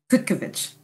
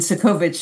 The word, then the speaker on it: Cudkowicz: The wonderful way is with a hard C, Cudkowicz. And Cudkowicz is the not so nice way.